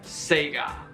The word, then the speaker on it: Sega: Sega while growing up it's a Japanese company and you pronounce their name Sega buy a Sega Dreamcast